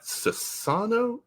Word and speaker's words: Sassano: I don't know that I typed it right, but is it Sassano, right? I got it all Yes, right on there. yes. Okay. So is that Sassano?